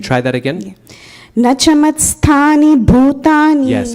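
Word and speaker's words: bhūtāni: So try to add more air to that when you say it. Can you try that again? Yeah. Nachamatstani bhutani. Yes, bhutani.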